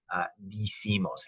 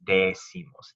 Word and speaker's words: decimos: I, e to I, digo, dices, dice, dicen, but not decimos. It's decimos, decimos.